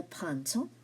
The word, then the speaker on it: printemps: The first one is c'est le printemps. Printemps. Okay, now the P here is silent.